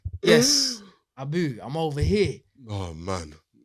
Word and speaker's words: Abu: My name's got 3 letters. It's 2 syllables, bro. It's ABU. My name's Abu.